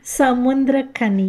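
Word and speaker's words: Samuthirakani: How do you say this guy's name? It's Samafira Rakani. Samafira Rakani. Samundrakani. Say that again, please, Ruth. It's Samundrakani. Samundrakani.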